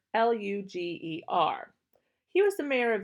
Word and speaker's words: Lueger: Karl is spelled Karl, Lueger, Luger.